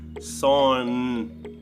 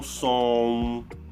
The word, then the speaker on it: son: Son, son, a língua vai para o céu da boca. Son, son, e não som, som, son, son, ok?